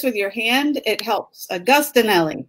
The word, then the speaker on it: Agostinelli: Agostinelli. Agostinelli. It's very Italian.